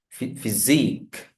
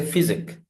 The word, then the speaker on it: physique: The next one, unique, physique. We say physic, no, physique, physique, physique.